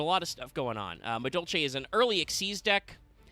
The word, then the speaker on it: Madolche: Madolche, which is pronounced that way. Madolche.